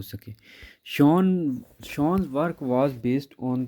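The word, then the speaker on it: Schön: अब सचिन was basically interested in knowing as when, अच्छा ये नाम शॉन है, शॉन वाज बेसिकली, कि स्पेलिंग सचिन वाले नहीं है, शॉन है, SCHON, शॉन।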